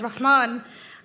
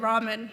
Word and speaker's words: Rahman: it was too greasy i stopped pronouncing my surname as rahman and instead said rahman because it's easier to pronounce in these little ways